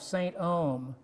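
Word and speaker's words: St. EOM: Martin, who called himself Saint Ohm. So his initials were E-O-M, and he used that, and E was silent, and he became Saint Ohm.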